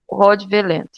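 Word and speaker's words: Hovland: Eu pronunciei com tom francês, né? Mas é Carl Rodveland.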